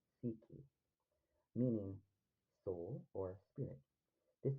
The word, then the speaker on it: psyche: The word psychic comes from the Greek psyche, pronounced psyche, meaning soul or spirit.